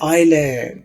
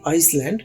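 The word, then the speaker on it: island: यहां पर एस खामोश है। ये लफज़ तो है आईज लैंड। लेकिन आईज में इस को नहीं पढ़ा जाएगा। तो यहां पर इस एस को साइलेंट करना है। तो लफज़ सही लफज़ है आइलैंड। सिर्फ आय और लैंड। आइलैंड। आपने कभी आइसलैंड नहीं बोलना। यह गलत होगा।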